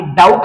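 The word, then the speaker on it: doubt: ते म्हणजे ट आणि डाऊट हा शब्द रीड करत असताना डाऊट ट अशा प्रकारे रीड करायचा आहे यातला बी हा जो लेटर आहे हा सायलेंट ठेवायचा आहे लक्षात घ्या त्याच्यानंतर पुढच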